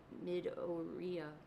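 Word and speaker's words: Midoriya: Isizuku Midoria.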